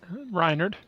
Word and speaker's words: Rynerd: Am I saying your name wrong? Rynerd.